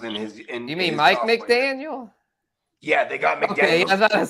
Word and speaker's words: McDaniel: You mean Mike McDaniel?